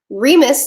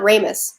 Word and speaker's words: Remus: Remus, not Ramus. Sorry. It's my accent. I'm an American.